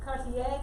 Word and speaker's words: Cartier: that way but please please be careful of french pronunciation and at least try so cartier that's how you say